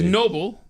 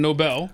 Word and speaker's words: Nobel: It was Noble instead of Nobel.